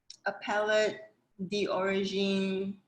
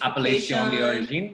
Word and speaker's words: Appellation d'origine: I'm not going to attempt to pronounce the AOC. Can you say it? Appellate d'origine certification. Appellation d'origine.